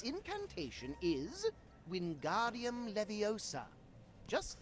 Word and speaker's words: Wingardium Leviosa: fly its incantation is wingardium leviosa just like this wingardium leviosa pay attention to your pronunciation it's wingardium leviosa remember make the gar nice and long also the wrist movement